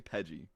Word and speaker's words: Pidgey: How do you say Pidgey? Spell it out. P-I-D-G-E-Y. Kayla. She didn't even know what you were trying to say. Idge. It's a short Idge. vowel sound. Pidge.